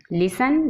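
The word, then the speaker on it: listen: लिसन, लिसन में T silent है।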